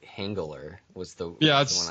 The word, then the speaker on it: Henggeler: I've been saying Henggeler in my mind for a little That while. no, that's right.